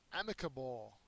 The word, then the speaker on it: amicable: you can't do anything amicable amicable is an adjective the first syllable is accented it means Peaceable or